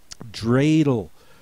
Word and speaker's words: Dreidel: Dreidel, spelled with an EI for the long A sound.